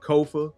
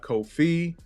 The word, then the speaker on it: Kofa: your host Kofa k-o-f-a it's phonetic it's only four letters people still up my name it's okay kofo rhymes with sofa it's not Kofi not Khufu not coffee or any variation thereof once again this is